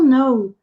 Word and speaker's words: know: Did you know? Você sabia? Know, sem pronunciar o K e com som de O.